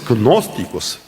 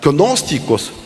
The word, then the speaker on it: gnósticos: Entonces, gnósticos también se puede pronunciar sin gnósticos igual. ¿Qué pasa? Gósticos, una agrupación de la filosofía doctrina que cree